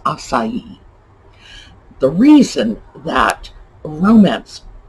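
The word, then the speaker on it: açaí: or whatever uh and of course the second spelling is of the spelling you would see in a romance language the pronunciation is acai the reason that romance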